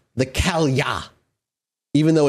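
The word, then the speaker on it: Cailleach: This next one is called the Kalya, even though it's spelt Kaleach. That's how it's spelt, in case you want to look it up. Kaleach. It's pronounced Kalya.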